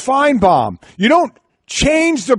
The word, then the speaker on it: Finebaum: are you people doing Finebaum says his name is pronounced fine bomb you don't change the